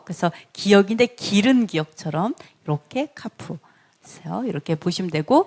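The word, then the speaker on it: כ: 그 다음에 카프. 다 외우세요. 집에서 많이 연습하세요. 카프. 자, 키읔 발음 카프죠.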